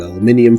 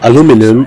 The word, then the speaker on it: aluminium: And let's come pillage something for gold, which I realize how you pronounce that strategic resource tells a story about your accent and how you learn English cuz it's either aluminum or aluminium.